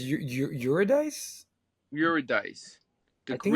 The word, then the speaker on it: Eurydice: maybe, and helped me with my bad Greek pronunciation. Yeah, Orpheus and Eurydice, Orpheus, and I think it's Eurydice.